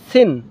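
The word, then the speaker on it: سين: সিন শিন, এটা সিন দন্ত স যেমন হয় দন্ত স, সিন সিন সিন।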